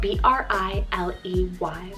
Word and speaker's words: Briley: Then I have Briley, spelled B-R-I-L-E-Y, Briley.